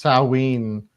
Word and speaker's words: Samhain: It's pronounced Samhain or Samhain or Samhain.